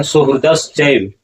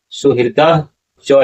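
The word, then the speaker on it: सुहृदश्चैव: लेकिन सुहृदस चैव इसका उच्चारण नहीं होगा। अगर आप गीता श्लोक व्याकरण के द्वारा इसका उच्चारण जानेंगे तो इसका उच्चारण क्या होगा? ससुरा सुहद चौ ए चव नहीं चव उच्चारण क्या होगा? ससुरान सुहद चव इस तरह से शुद्ध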